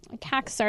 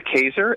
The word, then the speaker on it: Kazer: It's written by Christopher Kaxar, and I may have said that wrong, but the article is titled, Did I say it right? It's Dr. Kazer, and he's actually also